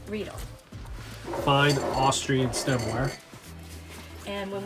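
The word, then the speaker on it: Riedel: that from this is from Rell or technically pronounced rle rle fine Austrian stemware and when we want something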